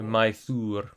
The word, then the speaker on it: Mythor: Mythor is the best pronunciation. Think of the Y as double O. So Mythor.